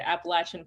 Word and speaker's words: Appalachian: carolina that's probably the first time you've heard appalachian pronounced correctly so my research studies are on contemporary